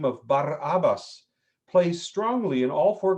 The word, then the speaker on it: Barabbas: the unusual name of bar abbas plays strongly in all four gospels barabbas barabbas is the way we would pronounce pronounce it in hebrew means literally son of